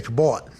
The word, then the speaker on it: Cabot: No, Mary Kay Cabot's a profesh.